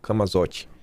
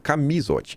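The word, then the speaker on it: Camisotti: confessou fraudes no INSS, o Camazote. Assim que se pronuncia. PGR pediu pra Mendonça que a delação premiada do Maurício Camisot, Camzote não, Camisote, que conversou fraudes e desvios nas aposentadorias do INSS, seja refeita.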